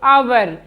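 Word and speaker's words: hour: आया है तो यहां पर हम हा का उच्चारण नहीं करेंगे जैसे अवर हा ओ यू आर अवर यहां पर भी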